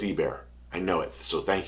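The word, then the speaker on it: Ebare: a long time ago I know it's ebear I know it so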